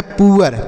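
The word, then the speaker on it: poor: पी से लिखेंगे प अब देखिए डबल ओ के साथ आर है तो इसका उच्चारण छोटा उ की मात्रा और अ लिखेंगे आर से र लिखा गया है पुअर P double O आर पुअर पढ़ेंगे समझ में आ गया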